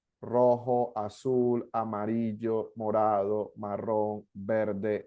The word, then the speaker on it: rojo: Sounds like a, imagine J is like a H in English.